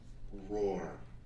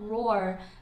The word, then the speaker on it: roar: 次は Roar.